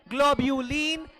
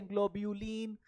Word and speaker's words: globulin: Fibrinogen, ग्लोब्यूलिन, एल्ब्यूलिन।